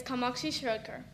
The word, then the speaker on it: Kamakshi Shirodkar: My full name is Kamakshi Shirodkar, but so many people had trouble pronouncing it, I had to shorten it to Kamu.